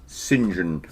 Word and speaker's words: St. John: John, but yeah, if your name is St. John, it's pronounced St. John, which is bizarre.